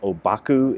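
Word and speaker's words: Ōbaku: he's also known as obaku in japanese that's how the japanese pronounce the chinese characters that spell it his name and last night i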